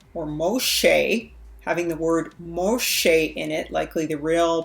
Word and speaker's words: Moshe: And most of all, when we look at the word Morsha or Moshe, having the word Moshe in it, likely the real pronunciation of Moses, Moses' name, we see it throughout the culture of the Hebrews.